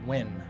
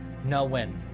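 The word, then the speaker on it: Nguyen: I'm say NG like Ingwen. Ingwen. Inwin. Newin. No one? I don't know how to... Wow, what? Is typically pronounced win or no win.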